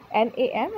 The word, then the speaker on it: NAM: अब ये नाम और नाग क्या है ये नाम और नाग ऐसे प्रोनाउंस नहीं करते, मैं बोल रही हूँ ऐसे, NAM एंड NAG।